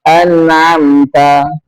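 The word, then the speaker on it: أنعمت: anamta bukannya amamta tapi anamta an pakai alif pakai alif bukannya an an anam saking fasihnya ini juga dia eatina anamta salah dia pakai ain semua harusnya alif ketemu ain anamta alaiim giril magdubi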